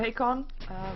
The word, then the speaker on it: Hakon: It will be the Venomancer that's going to be played by Hakon. I've been told that I should pronounce his name like that, so that is that one.